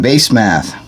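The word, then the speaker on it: Basemath: tibsum or tiben yeah tis a bun and base math that's how it's spelled b a s e m a t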